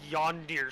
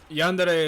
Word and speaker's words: Yandere: work with dick to make a game called yon deer simulator jung-bae or Italian no no no no young yandere is how it's pronounced also uh there's a lot more like